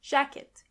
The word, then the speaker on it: Jacke: Jacke is jacket. And this is where you can see that the letter J is pronounced as Y. Jacke. When you see a C and K together, they are pronounced as K.